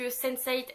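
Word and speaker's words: sensate: Mais c'est un jeu de mots un petit peu en anglais puisque Sense8, S-E-N-S-A-T-E, ça se prononce de la même manière que Sense8, le titre de la série.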